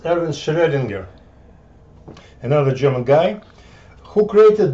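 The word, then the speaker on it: Erwin Schrödinger: other guy was uh geron geiger aaron ah oops this pronounces er so it's erwin schredinger another german guy who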